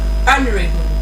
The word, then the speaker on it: honorable: And lastly, another example I have here is the word honorable. You don't say honorable. Like the ha sound there it is silent.